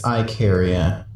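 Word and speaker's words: Ikaria: on the Greek island Icaria, Okay, no wait, it's Icaria. Oh, okay, it's spelled differently.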